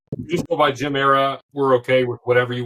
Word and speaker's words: Gem Era: So, the X is silent. Just go by Jim Era.